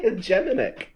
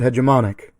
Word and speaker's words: hegemonic: I always say hegemonic. That's because you're thinking of hegemony and then just changing it to an IC. But changing the Y to an IC changes the entire pronunciation and makes it hegemonic.